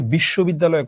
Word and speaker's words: বিশ্ববিদ্যালয়: আচ্ছা, এবার আমি বলি বিশ্ববিদ্যালয় কয়টা, চলো আমরা দেখি। বিশ, শো, বিদ, দা, লয়। বিশ্ববিদ্যালয় 1 2 3 4 5, পাঁচটা অক্ষর।